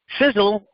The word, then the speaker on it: SISEL: Welcome to SISEL International. Now, folks, it's pronounced like sizzle, as spelled S-I-Z-Z-L-E, but SISEL, our company, is spelled S-I-S-E-L, and that's an acronym that stands for Science, Innovation, Success, Energy, and Longevity.